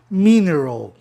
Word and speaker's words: mineral: Mineral, propaloxítona terminado em vogal consoante, o I não tem razão de ser I. E não fica bem você pronunciar mineral, né? Ia demorar mais. Então os linguistas optaram por modificar o som e ficar dentro da regra geral, né?